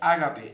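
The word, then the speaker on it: ἀγάπη: dios primero el amor en griego se pronuncia ágape el amor árabe interés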